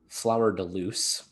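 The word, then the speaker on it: fleur-de-lis: harp or for ireland the fourth azure a flower de lee which in this is pronounced flower deluse because the 18th century was a thing or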